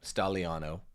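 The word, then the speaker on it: Staglianò: president of P monor Antonio stagliano stalo we wouldn't pronounce the G it is the mission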